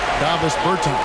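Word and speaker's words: Dāvis Bertāns: Davis Bertans.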